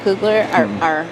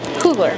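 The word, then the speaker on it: Coogler: Who's Ryan Cougler? Um Ryan, did I say his name wrong? Cooler.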